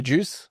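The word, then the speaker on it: Joos: Uh, that's J O O S. Uh, but you say it like the juice.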